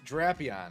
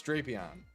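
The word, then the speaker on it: Drapion: And it's not Draon. It's Drapeon.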